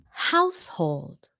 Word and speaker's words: household: Sometimes người Việt phát âm là hao hôn, something like that. Household.